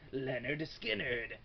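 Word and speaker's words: Lynyrd Skynyrd: reviewers and whatever ever Leonard skinnard pronounced Leonard skinnard from 1973 I believe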